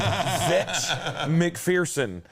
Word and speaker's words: Zech McPherson: Yeah, Zach McPherson or Zech. Zach McPherson. Or is it Zech? I'm going to call him Zech because that's how it's spelled. Zech McPherson, Texas Tech cornerback.